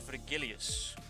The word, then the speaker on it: Vergilius: Dorian said Vergilius with a soft G.